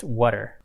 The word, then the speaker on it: WUTR: Pronounced Wutter. Exactly. But it's spelled WUTR.